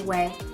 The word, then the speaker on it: Ouay: I think this is pronounced Way.